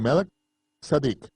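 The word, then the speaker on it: מלכי־צדק: Él estaba actuando como un sacerdote según el orden de Melquisedec, o como se debe pronunciar, de Melech Sadik.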